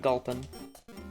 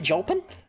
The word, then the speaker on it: Gulpin: You pronounce Gulpin with a hard G. Are you saying I should pronounce it Julpin?